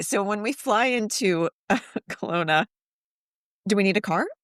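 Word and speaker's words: Kelowna: So a lot of flights will go to Seattle and up or spell Colona because it's not spelled like we think it's spelled. It's K E L O W N A.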